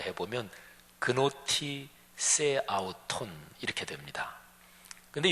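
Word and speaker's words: γνῶθι σεαυτόν: 근데 너 자신을 알라, 이 말이 헬라어인데요, 헬라어 발음으로 해보면 그노티 세 아우톤 이렇게 됩니다.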